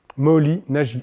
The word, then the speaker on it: Moholy-Nagy: Moholy-Nagy, N-A-G-Y. Moholy, M-O-H-O-L-Y, comme ça se prononce, quoi.